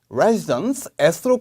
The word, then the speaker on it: residences: 그래서 residence에서 끝나는 게 아니고 언니, 누나 할 때 그 sister처럼 sis, S 발음을 꼭 2번 해주셔야 돼요.